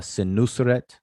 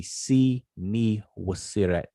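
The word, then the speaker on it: Senusret: will not recognize because the way we pronounce the name is the king um uh sin nusret like they pronounce his name sinus sin nu suret um but his name is actually si ni wasiret which means man c is the birth of man not sin as in brother so see me was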